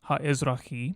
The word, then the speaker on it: הָאֶזְרָחִי: common with people groups, and the aleph at the beginning was probably added for the sake of pronunciation, so that the word doesn't begin with a cluster of consonants.